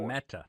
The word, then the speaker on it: COMETA: Can you pronounce for me? It was the Cometa report. Cometa.